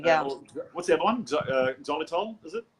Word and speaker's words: xylitol: Xylitol, is it? Oxalol?